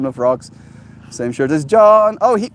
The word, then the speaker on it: Jean: is John covers in pajamas yeah exactly it's John like j e a n not John but also not pronounced Jean spelled like Jean pronounced Jean it's